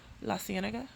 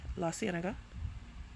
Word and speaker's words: La Cienega: I know this is actually a street or an area in California, La Cienega. So that's how I pronounce it, La Cienega, like La Cienega Boulevard.